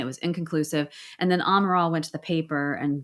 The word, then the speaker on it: Amaral: But Amaro I can never say her name. Amaral. Amaral, thank you.